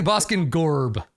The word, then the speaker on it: Boskin Gorb: So I guess it's technically Boskin Gorb. Slightly two R's.